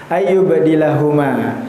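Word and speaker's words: أن يبدلهما: Nah, itu kita bisa sebut dengan idgham mutajanisain membacanya ayubdilahuma ya. Ayubdilahuma. Di sana sama juga ada qalqalah pada kata eh pada huruf ba yang bersukun. Ayubdilahuma. Makanya tidak panjang, hanya dua harakat saja.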